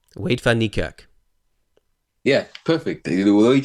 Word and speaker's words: Van Niekerk: How do you pronounce Wade Van Niekerk's name? I'm sorry, I need to know this. Wait, Fanikak. Wade Van Niekerk.